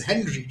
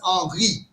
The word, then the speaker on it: Henri: This was Henri Poincaré who first, it is written as Henry, right? In French it is pronounced as Henri.